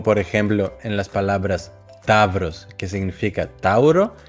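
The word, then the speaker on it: ταύρος: En el primer caso se pueden pronunciar como av, ev, como por ejemplo en las palabras tavros, que significa tauro, y pseudónimo, que significa pseudónimo.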